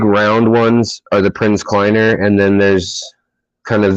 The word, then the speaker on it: Kleiner: um and it's uh p-r-i-n-z actually prinz and then uh kleiner k-l-i-n-e-r i know i i thought it was exactly how you spell it the prince like prince charming climber like hiking uh sword too uh